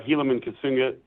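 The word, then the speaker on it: Helaman Casuga: charger QBs yeah uh helam and kunga is how you say his name he's he's just a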